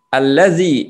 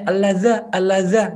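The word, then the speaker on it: الذي: Harokannya gini-gini, nggak ada bacanya alladza, nggak ada. Alladzi kemudian ya-nya disukun. Alladzi.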